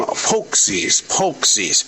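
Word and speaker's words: pączki: I'm going to call them Pokesies. Even though it's spelled Paczki. See, that's the American way of looking at words.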